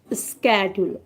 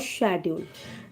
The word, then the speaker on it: schedule: So first word was schedule और schedule. जब भी आप अपना शेड्यूल तैयार करते हैं या स्केड्यूल तैयार करते हैं, दोनों ही pronunciation are right.